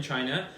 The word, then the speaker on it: Qin: Any major day-to-day questions while you were in China that we could help with? An explanation here. Oh, anything you're wondering about? So Danny, I'm gonna say it properly. Play Chin. That's QI is his ch sound.